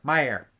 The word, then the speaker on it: Myer: anything like that oh it's pronounced my myair Myer sorry um Myer uh